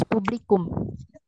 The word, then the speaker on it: Publikum: Mau tanya dong, yang yang tadi das publik ya, audience, the audience itu bacanya das publik, Das Publikum.